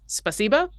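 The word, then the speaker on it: спасибо: I'm thinking of is spasiba which the the emphasis needs to go on the second syllable and I've been informed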